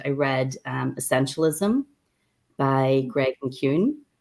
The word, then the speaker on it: McKeown: And I read Essentialism by Greg McKeown, or Greg McKeown, as we say in Ireland, but I don't know how he pronounces his name here, but it would be McKeown in Ireland.